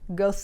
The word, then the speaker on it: Goethe: It's the philosopher that looks like it's spelled Goethe. Goethe. It's not, it's Goethe.